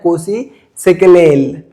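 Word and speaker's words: Nkosi Sikelel': इसके जो प्रोनाउंसिएशन है दो तरीके के होते हैं। एक में तो एन को साइलेंट कर दिया जाता है, इसको हम डायरेक्ट बोलते हैं कोसी सिकलेल, और कहीं कहीं पर जो एन है उसको नसल साउंड में बोला जाता है, ऐसे बोला जाता है कोसी, कोसी सिकलेल।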